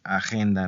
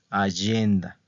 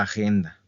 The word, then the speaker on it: agenda: de la pronunciación verdad porque no se dice agenda no como en español no es agenda verdad Entonces esta palabra